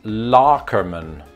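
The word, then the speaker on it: Loockerman: think it's lukamin again we had to resort to reddit for this and on that reddit post they say that it's larkermann larkerman i can't do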